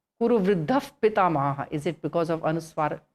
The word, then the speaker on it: Kuru Vriddha Pitamaha: Kuru Vriddha Pitamaha is pronounced Kuru Vriddha Pitamaha.